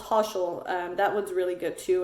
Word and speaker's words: Toshl: And then there's one called Toshal. That one's really good too. And Toshal is spelled TOSHL, Toshal.